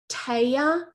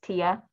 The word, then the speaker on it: Tia: my screen um so taiya am i taiyaland am i pronouncing your name correctly if not please correct me it's tia tia i'm sorry tia would you like to